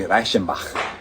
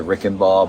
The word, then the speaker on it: Reichenbach: So phonetically, it'd be Reichenbach, is how my great-great-grandfather and grandmother would have pronounced it there. Over the years, we've simplified it to Reichenball, but Reichenbach is how it would have been pronounced.